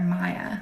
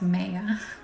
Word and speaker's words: Maya: A lot of people want to call her Maya, but I'm like, no, it's Maya. And I think the consensus is that the Greek goddess would have pronounced it Maya, and that's what she's named after.